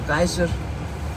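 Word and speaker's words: Geysir: we go to gazer gazer is pronounced either gizer or giser in the English depending on where you come from at G we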